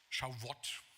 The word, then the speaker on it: Shavuot: Und zwar immer am Pfingstfest, am jüdischen Pfingstfest, das heißt Shavuot, richtig ausgesprochen.